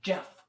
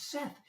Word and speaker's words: Seth: See th sound it out. It's Seth. It rhymes with Beth, but I I don't want to be Jeff Scatter. I don't want to be Jeff. I want to be Seth.